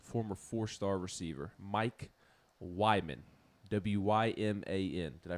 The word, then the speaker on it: Wyman: Mike Wyman, W-Y-M-A-N. Did I pronounce that correctly?